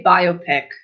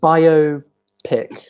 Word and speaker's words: biopic: that biopic or biopic I would say biopic which this guy like bio pick yes yeah cuz I